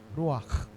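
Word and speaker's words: רוח: Ruak. Ako humalak no? Yan talaga yung pronunciation niyan sa Hebrew.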